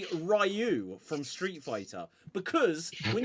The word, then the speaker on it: Ryu: the Street Fighter movie they clearly say rayu and why you defending that movie before 1994 why are you defend so how are you how are you supposed to pronounce it right well apparently it's Ryu but when you watch